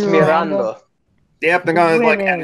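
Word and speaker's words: Miranda: It's by Jose Marianda, or I can't pronounce it in Spanish, sorry. Mirando. It's Mirando.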